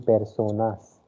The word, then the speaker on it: personas: Second one, it is persona. Okay, because the letter E is pronounced as A sound of English. Okay, so it will be personas.